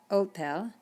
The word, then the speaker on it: hotel: You don't even pronounce the H in Spanish. It is totally invisible. So when we say hola, or another word you'll see later on is hospital. It's hospital, not hospital. Hotel, not hotel, hotel.